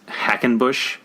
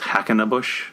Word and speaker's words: Hackenbush: name in the movie he's Hackenbush in A Day at the Races, and Chico adds that extra syllable, so he's Hackenabush.